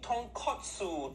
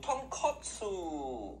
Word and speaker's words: tonkotsu: pop that completely different thing say it properly tonkotsu tonkotsu i've already started a couple things so for